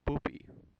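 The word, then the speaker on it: Poupi: lead of the movie and his name is poopy I'm not kidding that's his name and that's how it's pronounced anyway the romance is just utterly ridiculous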